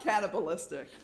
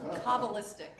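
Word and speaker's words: Kabbalistic: D not cannibalistic. Cabalistic with a K. Oh, cobalistic. Cobalistic. The cabbala. Okay, that's how you pronounce it.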